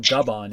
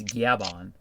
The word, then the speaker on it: Gaban: It's not Gaban, it's Gaban. I won't read it that way until I have confirmation by hearing it in the show. It's already been said in the show as Gaban.